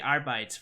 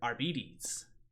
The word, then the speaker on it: Arbites: And it's like, oh, the Arbites, right? No, actually, they're Arbites.